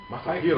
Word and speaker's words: Masahiro: Masahiro.